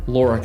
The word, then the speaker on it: Lorica: privilege today of having a conversation with Ben Lura and did I get your last name pronounced correctly that's perfect Chris okay um and